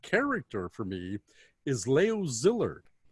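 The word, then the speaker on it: Szilard: for me is leo zillard not everybody knows zillard it's s-z-i-l-a-r-d uh he said zillard but a lot of americans say zillard uh zillard with no zed or z sound in a zillard and leo not leo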